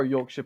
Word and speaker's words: Yorkshire: __ ] middle-earth is not the Shire it's your chair you our well suppose